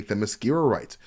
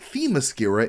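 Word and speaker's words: Themyscira: laid-back manner but he doesn't even know how to say themos skite calling it them mascera instead something that a them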